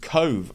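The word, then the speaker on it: Cobh: Ramblers chat Colin Ramblers it's not said as it's written I haven't recorded it yet CT it's pronounced Cove oh okay it's the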